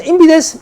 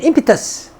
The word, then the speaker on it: impetus: 미국에서 impetus, 영국에서 impetus. 알아서 발음하세요.